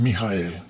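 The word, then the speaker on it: מיכאל: es Miguel si vamos al hebreo y luego pronunciamos en nuestro idioma es mijael que cuando los creyentes oyen mijael uy Cuánto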